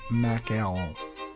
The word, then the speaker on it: macaron: Everyone says it wrong. It's pronounced a French macaron.